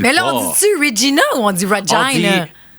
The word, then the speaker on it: Regina: Il faut prononcer Regina comme Vagina.